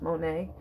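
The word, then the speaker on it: Monie: M-O-N-I-E. It's pronounced Monet.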